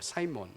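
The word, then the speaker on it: Simon: 사려하는 모습이 보인 거죠 그래서 시몬이라는이 영어 발음이 사이몬이라고 합니다 사이몬 사이에서 돼서 으로 사고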